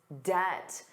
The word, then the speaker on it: debt: But he has to manage his debt, the total amount of money he owes. And notice that pronunciation. Did you notice the B was silent? Debt, debt, debt.